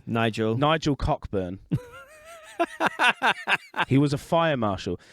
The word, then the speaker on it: Cockburn: Nigel uh Coburn and he pronounced it Coburn but spelled it [